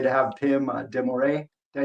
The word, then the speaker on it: Pim de Morree: know really honored I would say to have Pim demore did I say it right yes very good